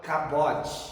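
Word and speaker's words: כבוד: Repita comigo cabot cabot kavod é o peso da Glória é a glória literal se escreve kavod mas se fala cabode vamos lá de novo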